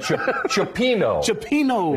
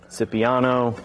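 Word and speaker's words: cioppino: said i noticed that chopino is the correct pronunciation correct yep um some people call it scipiano kind of depends on like where you're at in the country okay um i feel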